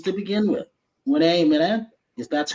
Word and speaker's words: Rena Mena: And so if I get your name wrong, I'm not good with names to begin with. Renee, Mena, if that's correctly, Hey, you got it.